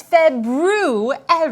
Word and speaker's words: February: are currently in oh the proper pronunciation for the second month of the year is February I know that because